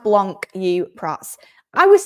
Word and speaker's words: Blanc: It's pronounced Blanc, you prats.